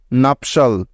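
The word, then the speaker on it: nuptial: তৈরি করে তাই সুতরাং টি আই এল একত্রে এর উচ্চারণ হবে সল ঠিক তো মনে থাকবে তো তাহলে এই শব্দটির উচ্চারণ কি হবে এন ইউ পি নাপ এবং টি আই এল সল নাফসাল নাফপশাল নাফপশাল অর্থ হলো বৈবাহিক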